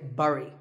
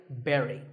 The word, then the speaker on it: bury: I used to say bury. I mean, it looks like that, right? But this word sounds just like the berry in strawberry. So, once again, bury.